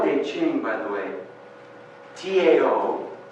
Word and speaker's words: Tao: The Tao Te Ching, by the way, T-A-O, Tao, looks like, but it's pronounced Tao.